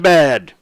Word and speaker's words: Sadabad: Sadabad. That's how you pronounce it.